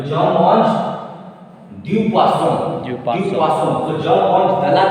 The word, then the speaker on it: poisson: O-E will make wa sound. Vaso. Poiso. Was why zone double S is there? No. Yeah. I told when single S is between two vowels, Two vowels. then S will pronounce the. Here we have double S. Then why is the sound?